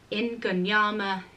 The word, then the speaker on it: Ingonyama: so without further ado let me just say that a couple of times for anyone who wants that pronunciation really clearly stated so the words are in gone knee armor Ning when nama Bala ingonyama Ning winema Bala okay unless you've got it